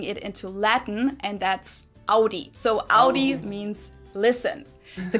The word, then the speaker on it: Audi: Most Americans that I know pronounce it like I just said it, Audi. In German, we say Audi. Audi.